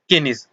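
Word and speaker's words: Keynes: Next है John Maynard केनिस, जिसको अगर हम इंग्लिश में प्रोनाउंस करेंगे तो इसको जॉन मेनार्ड कीन्स के नाम से भी जानते हैं, जो कि अपने आर्थिक सिद्धांतों के लिए जाने जाते हैं।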